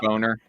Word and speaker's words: Boehner: Boner. Yeah, it took me a while to realize how the fuck you pronounce his name.